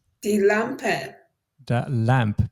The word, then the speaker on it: Lampe: first we have the Lampe the Lampe the lamp be sure to pronounce the a in the end as always with German words when it's written we usually need to pronounce it and then we have